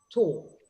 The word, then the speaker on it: tall: And the L in English, it's dark, tall.